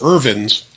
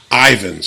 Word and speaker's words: Ivins: now other side note i always thought it was ervin's literally until i looked this bureau so for 40 years i have been mispronouncing it as ervins and it's really ivan's so i guess he